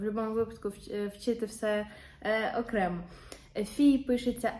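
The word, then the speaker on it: fille: вона не читається наприклад фій нфій виняток дві букви Л читається як й Це трошки важке слово фій напевно треба зразу сказати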